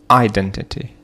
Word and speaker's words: identity: Identity. Identity. So we have the second syllable, which is stressed.